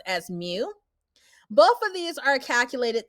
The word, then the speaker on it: mu: symbol that i have highlighted here and it's pronounced as mu both of these are calculated the same so